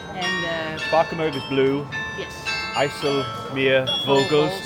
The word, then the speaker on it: IJsselmeervogels: No, you say one word. Ijsselmeervogels. Ja, Okay. Beetje getraind hoor. Ja, Yeah. dat is I just said Ijsselmeervogels.